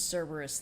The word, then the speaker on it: Cerberus: There's no soft C in ancient Greek. Anything that's written with a C was pronounced with a K. So it's Kerberos in the original. That said, a lot of these pronunciations have been anglicized. People will understand you if you say Cerberus.